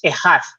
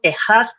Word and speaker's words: echad: En hebreo, la palabra que es único es ejad, ¿vale? Sí, Esa que se palabra, escribe chat, me parece. exacto, significa uno o único, se escribe echad, E-C-H-A-D, pero se pronuncia ejad, ¿vale?